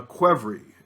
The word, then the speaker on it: Qvevri: This they call a Quevri, and it's spelled Qvevri.